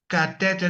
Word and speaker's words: catheter: Catheter is the same as catheter.